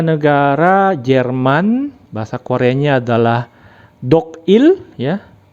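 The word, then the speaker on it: 독일: Berikutnya ada negara Jerman, bahasa Koreanya adalah Dogil ya. Dibacanya adalah Dogil, maka menjadi Dogil Gayo. Tapi karena L-nya tidak dibacakan L, maka menjadi Dogire Gayo ya.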